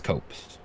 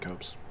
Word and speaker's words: copse: This is Carrington's Copse. Supplies. How do you spell that? Carrington. Thank you. Carrington's Copse. Copse. It's a good word, Copes.